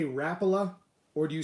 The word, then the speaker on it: Rapala: are actually a few more people that say rapala than those of you who say rapula but i know that the the rappel of family and the company as a whole pronounces it rapula and i know that mike iaconelli does as